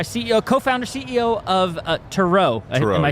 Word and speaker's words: Tereaux: co-founder CEO of uh Tero am I saying that right yes it is uh it is not Trux as it is often mispronounced it is definitely TR